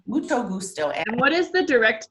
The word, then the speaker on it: mucho gusto: this is a really good one and it's pronounced mucho gusto mucho gusto and what is the direct translation of that